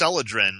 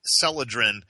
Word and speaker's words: Celadrin: relievers is um called celadrin I'll spell it because it it sounds different than it's spelled it's c is and Charly e l a d r i n celadrin and celadrin is available